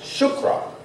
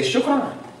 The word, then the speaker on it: chakra: Yeah, chakra. Correctly pronounced shukra, like we say shukran. Yeah, it's spelled chakra, but it's pronounced shukra.